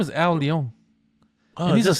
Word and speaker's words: Al Leong: His name is Al Leong. Oh, that's how you pronounce it.